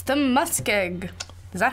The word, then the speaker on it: muskeg: It's the muskeg.